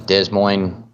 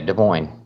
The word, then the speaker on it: Des Moines: state's constitution uh i i believe that says desmoing iowa iowa des moines iowa yeah des moines it says this it does say this i